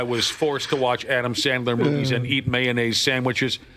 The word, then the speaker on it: Sandler: you guys would force me to a 24-hour Adam Sandley, how do you say his name again? Sandler.